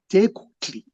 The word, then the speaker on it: Tecuhtli: But it's that consonant is a single consonant. Tecuhtli is the way that I pronounce it.